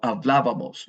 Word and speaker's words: hablábamos: And when we write it, there will be an accent on the first A. Habamos. So hablábamos. Nosotros hablábamos.